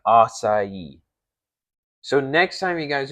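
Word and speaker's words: açaí: to tell you guys the wrong way to say it aai ai etc. There's so many. And this is what I'm saying. I've seen I'm like, guys, the correct way is how I'm saying it. Asai.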